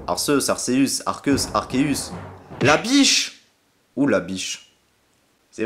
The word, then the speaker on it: Arceus: un sacré casse-tête bon lorsqu'on voit son nom et qu'on le lit en français a logiquement ça se prononcerait art ce bon si vous